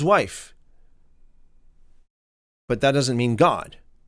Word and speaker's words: Gad: And Gad does not mean God, even though it's pronounced God.